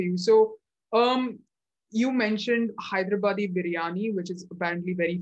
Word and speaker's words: Hyderabad: be clear did you say you have the hyderabadi yeah so first teach me how to pronounce that i need to be culturally intelligent